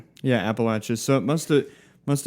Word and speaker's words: Appalachia: Appalachia. Yeah, Appalachia.